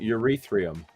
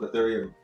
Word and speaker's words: Ethereum: got a lot of people who call it urethriam because they don't know what it is they've had a lot of spaces people just mispronouncing it but if you correct them